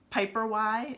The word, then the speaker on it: Piperwai: So there are other brands called Piper Y, it's spelled PIPERWAI, Earth Mama Organics, Primal Pit Paste.